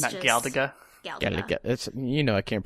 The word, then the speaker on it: Galaga: It's upgraded version of Galiga. There you go. I'm sorry. It's upgraded version of Galaga. Okay. But it's absolutely obnoxious. Like it's just Gala. Gala.